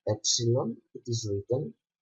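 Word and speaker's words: έψιλον: The following letter is the letter Epsilon. A Greek word that starts with this letter is the word elaphe, that means deer, and we pronounce this epsilon e, like egg, or example.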